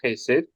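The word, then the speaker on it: חסד: you say the word chesed, because if you want to say it properly, you're going to probably spit on someone next to you.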